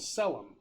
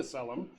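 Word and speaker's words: Caelum: a collective of AIS inhabiting a metaplane called selum that's spelled c-a-e-l-u-m uh it was purged of all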